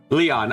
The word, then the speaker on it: Lion: Leon, okay. Pronounced like Leon Kennedy.